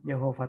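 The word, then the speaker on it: Jehovah: Jadi ada yang membacanya Yahweh, ada yang membacanya Yehova, tergantung gitu.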